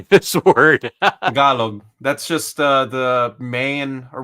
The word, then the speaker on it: Tagalog: Do I pronounce the G at the end? Yeah. Tagalog. There you go. Tagalog.